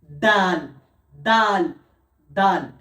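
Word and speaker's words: دال: দাল আর তায়ের মাখারিজ একই রকম, অর্থাৎ দাল যখন বলবো তখন এই জিভের আগা এবং এই দাঁতের দুই দাঁতের সামনের গোড়ার সাথে লাগবে। তা তা। দাল দাল দাল। এবারে দাল। দাল সায়ের মতনই হয়, জিভের আগা এবং সামনের উপরের দুই দাঁতের আগার সাথে লেগে উচ্চারণ হবে।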